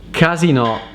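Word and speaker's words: casinò: go to a casino it's actually like this casino casino casino so you see with the accent on the o casino if you say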